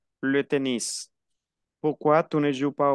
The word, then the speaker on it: tennis: Se pronuncia la S. Le tennis.